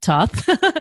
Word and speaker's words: Thoth: So I know that you started out with Crowley and the Thoth deck, I know you pronounce it Thoth, and also that your primary commitment as a reader for quite a while has been the Marseille deck.